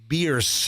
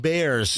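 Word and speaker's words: Bearss: The family that the street is named after, they claim that it's technically pronounced Beers.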